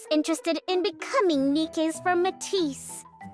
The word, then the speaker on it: MATIS: I before I heard it in English, I always pronounced it Mattis or Mattis. The Mattis squad. Matis sounds a little bit more uh uh sophisticated. Um it's pronounced Matis.